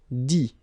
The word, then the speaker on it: dit: Dire, I-R-E, will become I-T, dit. Okay, phonetically, same thing here. You don't pronounce the final T.